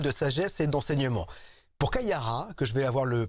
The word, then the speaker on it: Kaia Ra: Kayara, est-ce que je prononce bien ?